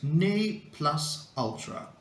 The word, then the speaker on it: ne plus ultra: right number five here it comes uh the pronunciation is NE plus Ultra and it means the highest or or the